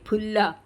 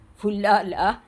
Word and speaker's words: ഫുല്ല: നോക്കാം സംഭുല്ലപത്രേ നീതരാം വിചിത്രേ ഫുല്ല എന്നെ പറയണം കേട്ടോ ഫുല്ല ദയവുചെയ്ത് ആഫ എന്ന് ആരും ഉപയോഗിക്കരുത് അത് തെറ്റാണ് സംസ്കൃത ഭാഷയിൽ ഇല്ലാത്ത ഒരു ഉച്ചാരണമാണ് സമ്പുല്ലപത്രേ നിങ്ങൾ ഇപ്പോ ബ